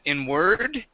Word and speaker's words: inward: okay you would said inward okay the stress goes at the beginning of the word inward inward okay very